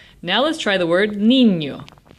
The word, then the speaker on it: niño: Niño ends in an O, which makes it llana, which means the emphasis is on the second to last syllable. And since the emphasis really is on the second to last syllable, we don't need an accent mark.